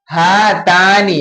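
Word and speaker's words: هاتان: हातानी, क्या होगा इसका प्रोनाउंसिएशन? हातानी।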